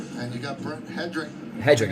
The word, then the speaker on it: Hedrick: Hedrickk is how you say it.